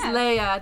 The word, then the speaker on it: Leia: And it is Leia, just like Princess Leia. Yes, that's how it's pronounced.